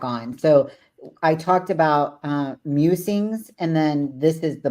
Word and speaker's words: Mewsings: is really just kind of my meanderings, my musings, and it's called Musings, MEWSINGS, because I love cats. I was like, is it meow sings?